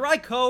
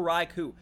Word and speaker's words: Raikou: Oh, well, if it is it Raikou or Raikou? So, they're both canonically correct. There have been incarnations of both where they pronounced it both ways.